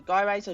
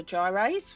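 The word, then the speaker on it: gyrase: between the strands okay so guy razor Gyros whichever you want to pronounce it so there's a new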